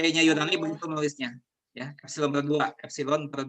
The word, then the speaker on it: epsilon: Ini mirip huruf E, ini epsilon. Biasanya epsilon itu salah satu huruf Yunani ya, epsilon, huruf kelima. Itu huruf Yunani, E itu. Huruf E-nya Yunani begitu nulisnya, ya, epsilon per 2.